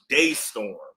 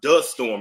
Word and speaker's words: Destorm: Yeah, it's Yeah, but it's pronounced Daystorm. I thought it was Dtorm.